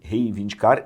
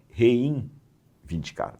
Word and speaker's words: reivindicar: Reivindicar, rei, rei, reivindicar e não reinvindicar.